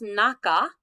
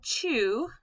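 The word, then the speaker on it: 中: chiseling all right so this is pronounced naka and you know this in names like nakamura and sometimes it's pronounced chu we're going to see it pronounced both ways in this lesson country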